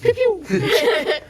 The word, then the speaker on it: Pew Pew: You pronounce it wrong. It's Pew Pew.